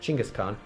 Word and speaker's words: Chinggis Khaan: the form of the Mongol army in fact Genghis Khan actually pronounced Chinggis Khaan founder and great ruler of the Mongol Empire